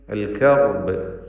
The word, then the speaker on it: الكرب: الكرب ഈ പദത്തിൽ റായിന് തഫ്ഖീം കൊടുക്കണം. തടിപ്പിച്ചുച്ചരിക്കുക റായിന്.